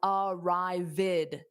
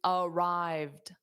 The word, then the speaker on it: arrived: Now, the ed doesn't add an extra syllable in this case. So, it's arrived. So, it's two sounds. Airport dada is a noun and then morning dada is a noun as well. Manuel arrived is two syllables. This is important because when e d adds an extra syllable, it adds an id sound. So it is not pronounced as arrivid. No, it's arrived.